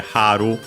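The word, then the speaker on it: 春: But yeah, Haru, spring, accent on the first mora, Aki, autumn, fall, however you want to call it, also accent on the first mora.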